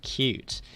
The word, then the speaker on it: Qt: do you say it QT or Q because it always pronounced cute okay that makes sense QT it's so on the Wikipedia it says pronounced cute and there are three